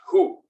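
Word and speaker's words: הוא: try to remember because the pronoun for him or he when it shows up is pronounced who so that was a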